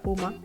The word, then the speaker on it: PUMA: y universal manipulation que por las siglas se le pronuncia Puma que en 1985 se